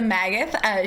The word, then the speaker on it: Megeath: This is Megeath.